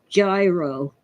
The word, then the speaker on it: gyro: It's spelled like gyro, but it's really gyro, and it is kind of what we call a hero.